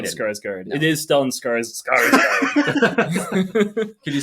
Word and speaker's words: Stellan Skarsgård: It is Stellan Skarsgård.